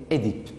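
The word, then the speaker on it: Œdipe: Mais d'abord, il y a la première prononciation, on prononce Édipe. On dit Édipe, on accepte Oedipe, mais on ne dit pas Oedipe.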